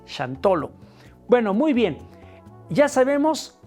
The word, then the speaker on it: Xantolo: Entonces, cuando hablamos de shantolo, en Nagwat decían shantolo o shantolón. Después cuando va evolucionando y lo van tomando los españoles o los mestizos y van escuchando como lo dicen los indígenas de aquella época, lo van pronunciando como chantolo o chantolón. En la actualidad se dice así, chantolo.